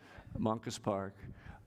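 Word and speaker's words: Moncus Park: So we learned as we were west on Johnston and in the beautiful Mongus, how do I pronounce that? Monkus Park? Yes, Monkus Park.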